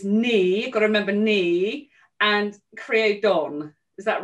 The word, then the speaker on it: Ní Chríodáin: you just told me it's me gotta remember me and create don is that right it's a knee creodon yeah